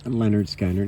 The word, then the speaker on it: Lynyrd Skynyrd: Lynyrd Skynyrd Pronounced Leh-nerd Skin-nerd.